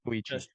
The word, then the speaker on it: Koichi: Koichi, is that how we are pronouncing it? Koichi? Koichi It's Koichi.